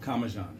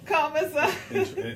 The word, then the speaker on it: Comissiong: Well, Comissiong. actually, interesting enough, where I'm from, in Trinidad, it is pronounced Comissiong. Okay. But where my grandparents are from, which is Grenada, it's Okay. more commonly pronounced Comissiong. Comissiong.